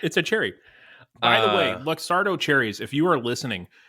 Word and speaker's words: Luxardo: Yeah, no, I really think the guy at Luxardo's like he's been listening for months? There's waiting. no S. Luxardo. There's no S.